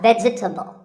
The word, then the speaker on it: vegetable: a lot is vegetable it's not vegetable if you say it correctly there are only three syllables veg vegetable let's talk about